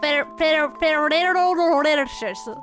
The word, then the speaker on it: Ferrero Rocher: It's a Ferrero Rocher.